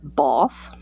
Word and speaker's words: Bath: People there call it Bath. Bath. That is the posh pronunciation of the city. I call it Bath because I'm North American.